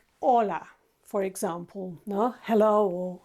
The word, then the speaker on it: hola: La into LA and that's not how the Spanish say hola it's a very short word Hola or is short and ah is short okay and if you